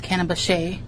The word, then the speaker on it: Cannabaceae: They are in the cannabis family, or it's Cannabaceae. I think that's how you pronounce it.